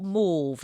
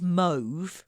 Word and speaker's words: mauve: I don't know what mauve is. We think he means mauve. That is just how United Statians pronounce it.